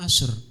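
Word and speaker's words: usher: Kan pernah saya melayani, ditulis itu kan aser kan, bacanya aku usir, apa usir, pikirku kan, usir. Kan jadwal pelayanan dulu, usir apa, usir, rupanya aser.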